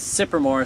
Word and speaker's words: Cypremort: everybody i'm here at i think it's pronounced supermoor state park and i'm